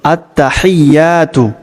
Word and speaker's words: আত্তাহিয়াতু: প্রত্যেক শব্দ ভেঙে ভেঙে বলব যাতে করে সঠিক উচ্চারণ হয়। তো চলুন আমার সাথে পড়ুন আত্তাহিয়াতু পড়ুন আত্তাহিয়াতু লিল্লাহি আত্তাহিয়াতু লিল্লাহি।